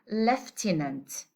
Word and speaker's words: lieutenant: Okay, it has a British pronunciation and an American pronunciation. Anyhow, let's go to the British one. It is said to be lieutenant. Okay, we will say lieutenant.